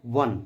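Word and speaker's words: won: Indian cricket team had वन इसको वन बोलते हैं जैसे ओ एन ई वन का उच्चारण होता है सेम उसी प्रकार से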